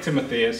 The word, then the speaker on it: Timotheus: When you see it spelled, you might want to pronounce it like Timotheus or something like. Well, from I like Greek. I like Timotheus. So it depends on how you rhyme with like Amadeus.